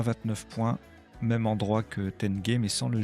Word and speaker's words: tenge: Le sous-top, c'est Tenge, unité monétaire du Kazakhstan. Je vérifiais la prononciation parce que je voulais pas passer pour un imbécile. Si j'avais dit Tange, non, c'est Tenge, alors sans le S au singulier.